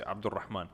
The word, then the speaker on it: Abdulrahman: because it is Arabic name, so I say Abdulrahman, and they were like Abdulrahman.